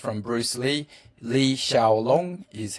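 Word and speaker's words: 李小龍: Lee Shaolong is how you say his name in Chinese.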